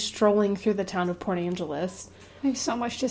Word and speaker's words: Port Angeles: Is that how you pronounce that? Port Angeles, yeah.